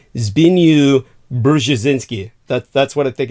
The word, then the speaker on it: Zbigniew: As far as I can ascertain, I think this is the correct pronunciation. It's Zbigniew Brzezinski.